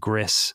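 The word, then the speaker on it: Gris: talk about this game I believe it's pronounced GIS I've heard it pronounced gree GRE g r i Gree gree okay oh all right Brad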